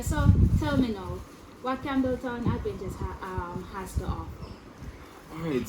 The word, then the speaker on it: Campbelton: Campbelton, am I pronouncing it right? Yes, Campbelton.